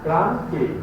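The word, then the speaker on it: Krashen: What is the pronunciation of this? Kran K. So the H will not be pronounced.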